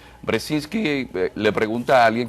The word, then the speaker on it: Brzezinski: tiene muchísimas consonantes y difícil de difícil de pronunciar gente dice brzezinski o brzezinski brzezinski que le pregunta a alguien que porque usted